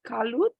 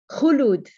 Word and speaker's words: Khulud: How can you help me with the pronunciation? Kalut? Khulud. Kulut. Khulud, Thank you, yes.